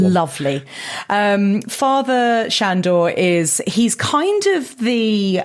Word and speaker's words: Sandor: Sandor. Shandor. He spells Sandor, but he seems to be being pronounced Shandor because we're in the Carpathians, I would assume.